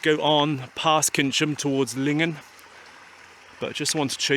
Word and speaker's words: Lingen: So I've always heard it pronounced Lingan rather than Lingen or others.